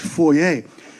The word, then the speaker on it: foyer: Los, did you know that foyer is actually a French word? It's supposed to be pronounced foyer.